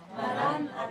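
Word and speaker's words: Maran atha: 그냥 붙여서 쓴 이름인데, 본래는 그게 마란 아타입니다. 마라는 아람어로 오십시오, 아타 주님 이런 뜻이거든요. 우리 따라합시다. 마란 아타. 마란 아타. 예, 그게 정확한 발음입니다.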